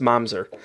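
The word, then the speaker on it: mamzer: ooh oh manzer man but it is definitely pronounced momser oh and uh and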